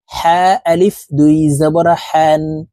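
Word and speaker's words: حًا: আলিফ দুই জবরে জান হা আলিফ দুই জবর হান হা হরফ হালুকের মধ্যখান থেকে উচ্চারণ করতে হবে কারণ হার মাখরাজ হালুকের মধ্যখান থেকে হবে হা আলিফ দুই জবর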